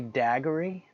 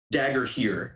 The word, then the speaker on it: Dagorhir: Did you say daggery? Dagger here, which is spelled Dagorhir.